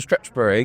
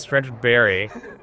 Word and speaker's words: Stretchbery: English coach interesting and I loved whenever he'd say my name and you to say Mr Stretch bery can you take the third wiek at stretch I say stop it right now it's stretch Berry well yeah that's how